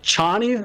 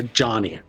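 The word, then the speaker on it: Chani: uh Zena's character chny is it chny or Johnny it's chny I in my head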